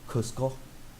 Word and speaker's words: Cusco: But I did learn that our capital is meant to be pronounced as Cusco, not Casco or something like that.